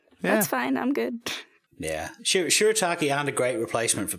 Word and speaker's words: shirataki: Shirataki.